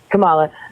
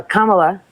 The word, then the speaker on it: Kamala: Camila she had the most Camala sorry um she had oh like K La got it oh thank you no I appreciate that because I don't like when people get my name wrong so uh Kamala is that better is that right for real okay thanks